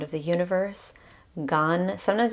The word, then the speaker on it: Gan: Gan, sometimes it's spelled G-A-N, sometimes it's G-A-M. I'm going with G-A-N this time around.